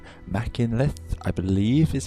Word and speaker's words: Machynlleth: It's in central Wales, or just north of that, and it's called Mach loop because it starts at a town called Machynlleth, I believe is how it's said, but anyway, there we go.